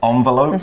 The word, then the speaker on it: envelope: the envelope see and you guys might have noticed i said envelope which is also okay for how to pronounce it envelope envelope both are fine so we could say